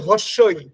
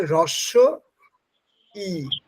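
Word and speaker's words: হ্রস্ব ই: কথাটার মানে হচ্ছে কম আমরা উচ্চারণ করার সময় আমরা অনেকেই বলি হসই হস্লে কিছু হয় না হসই একচুয়ালি তা না কথাটা হচ্ছে রস ই রস ই মানে এই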